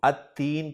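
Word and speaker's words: التين: तीन पर जब मैं अलिफ लाम दाखिल करूंगा तो लाम को नहीं पढ़ूंगा और इस्म को अत्तीन के तौर पर पढ़ा जाएगा।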